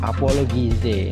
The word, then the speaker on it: apologize: Nah, di situ dibaca j ya, ada simbol aneh seperti itu dibaca j.